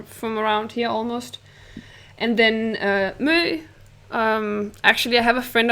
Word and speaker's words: Mø: I've never heard that, maybe you would pronounce it Mo or M, because it's an M and then the letter that's an O with a line through it, and that letter is called Ø here in Denmark.